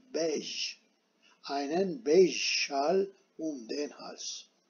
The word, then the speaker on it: beige: Tabi bayge de, diyorken de yanlış diyorum ben. Bunun okunuşu bayge değil, bej.